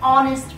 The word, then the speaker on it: honest: so for example an hour and honor an honest person silent H used and an hour I hat because you're pronouncing the puffs so those are the two